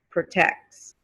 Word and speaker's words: protects: on the table protect you definitely hear the t at the end of protect but if you add an s at the end again you get protect protects protects you don't hear the t anymore a dog protects his